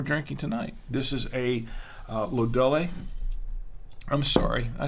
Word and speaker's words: Lodole: It's pronounced Lodole.